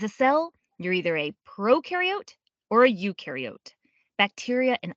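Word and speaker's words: prokaryote: Proariote the pro rhymes with no and they have no nucleus which holds the genetic material and controls a cell's activities.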